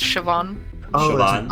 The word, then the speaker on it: Siobhan: I'm pronouncing their name, Shoban or something like that, yeah. Siobhan. It's usually pronounced Siobhan.